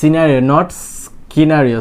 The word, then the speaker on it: scenario: সিনারিও, নট স্কিনারিও হবে না। C also silent.